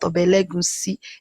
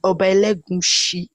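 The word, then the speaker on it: Oba Elegushi: It was a comment section that was telling me that it's not Obelegusi, that it was Obelegushi, Obelegusi, something.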